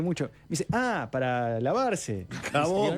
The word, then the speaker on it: jabón: Jabón.